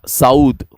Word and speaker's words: Saud: Abdullah bin Saudi Arabia, Saud. It's a Saud family. Saud. That is how you pronounce it actually.